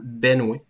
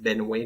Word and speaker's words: Benoît: moi mais peut-être que les gens prononçaient Benois comme étant Benoué fait moi je le